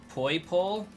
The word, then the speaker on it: Poipole: We pronounce it as Poipole. And I need this Poipole to not be Poipole. I need it to be white and yellow with neon blue eyes. You guys thought it was like people? I kind of pronounce it like koi fish.